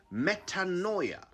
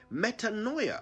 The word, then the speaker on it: metanoia: here's a word you've probably never used before metanoia i'll spell it m e t a n o i a metanoia it's a noun and it means a